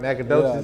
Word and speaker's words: Nacogdoches: yeah how would you describe coming up in Nacogdoches Texas I said it right Nacogdoches Nacogdoches yeah that's the oldest town in Texas